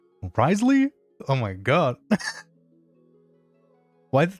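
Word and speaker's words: Wriothesley: H how do you pronounce his name? I feel like every single every single day I just like forget what you know like Ry Ry the Ry the sleigh. Risley. What? Are you for real? That's how it is?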